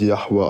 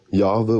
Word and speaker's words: Yahweh: Der wird ja so ausgesprochen ohne Umlaute, ohne. Das wird Yahweh ausgesprochen. Ne? Im Deutschen Jahwe oder Jehova.